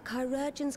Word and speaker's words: chirurgeons: Rest assured, he will receive the finest care our chirurgeons can provide. Chirurgeons, that's how it's pronounced.